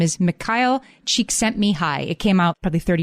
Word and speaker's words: Csikszentmihalyi: I'm going to pronounce his name carefully. His name is Mihaly Csikszentmihalyi.